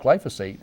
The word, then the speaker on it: glyphosate: So the surprising thing was, the boss keeps saying that it isn't about glyphosate.